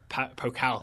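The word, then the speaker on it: Pokal: Bundesliga review and a preview of the dfb pocal that's how you pronounce it pocal all right and you know why we're doing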